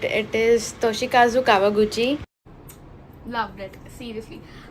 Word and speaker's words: Toshikazu Kawaguchi: Actually, I did pronounce it quite right. It is Toshikazu Kawaguchi.